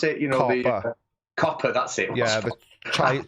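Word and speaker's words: COPPA: Is that how they pronounce it? Copper.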